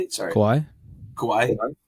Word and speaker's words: Kauai: Kauai? Like yeah, Kauai.